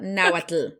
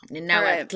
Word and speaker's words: Nahuatl: It's that TL sound, that Nahuatl. Okay. Yeah, it's hard to pronounce. There is an L at the end. Nahuatl.